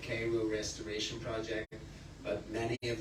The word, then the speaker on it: Cairo: little town called Cairo, spelled like Cairo but pronounced Cairo.